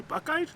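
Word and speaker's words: Buchheit: Buckeyes, yeah. I didn't get that out of It's spelled B-U-C-H-H-E-I-T. Buckeye? Yeah. It's like, what? Well, I'm glad I asked because I'm not a local, so Buckeye.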